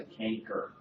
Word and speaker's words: chancre: All right, a chancre is best described as what? Oh, yeah. Also called a canker. You hear it with a hard C too.